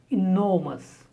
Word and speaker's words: enormous: The stress on the last syllable, near. Engineer. Next, 42, enormous.